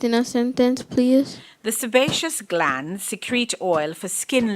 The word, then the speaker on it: sebaceous: The sebaceous glands secrete oil for skin lubrication. Am I pronouncing the word correctly?